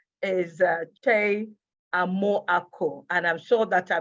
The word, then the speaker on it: Kyei Amoako: And so I'll say is Kyei Amoako. And I'm sure that I pronounced that very well.